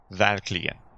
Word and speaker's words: verkligen: Le mot du jour est verkligen. Je te fais écouter la prononciation native. Verkligen. À toi. Verkligen. Verkligen. Tu vois qu'il y a une pause juste après avoir prononcé la consonne V.